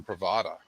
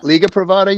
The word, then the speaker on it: Privada: This is from Pravada, and I think that's the right pronunciation. And it was good. Liga Yeah. Privada, you mean?